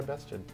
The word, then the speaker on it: Bested: Why Bested? Because it rhymes with tested.